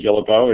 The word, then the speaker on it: Guillebeau: it you know Steve everybody says it a different way and I learned what to correct them so I actually say Gila bow it's kind of the